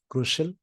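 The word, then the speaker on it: crucial: इस वर्ड का प्रोनाउंसिएशन शल होता है, शल, क्रुशियल, इंपॉर्टेंट।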